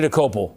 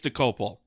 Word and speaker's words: Dokoupil: I'm Tony Dokoupil, the anchor of the CBS Evening News.